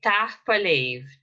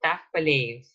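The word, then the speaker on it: tapadh leibh: Tahpa Leiv, Tahpa Leiv. Okay, so Tahpa Leiv. You don't pronounce the H at the end of the first word, so this DH is not pronounced.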